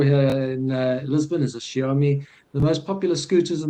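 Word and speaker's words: Xiaomi: This is the I will never be able to pronounce that word and I hate not being able to pronounce words. Is it Zomi? Shiomi.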